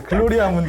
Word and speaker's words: 글로리아 문디: 한국식으로 발음하면 안 돼요. 네, 글로리아 문디 이렇게 해야지.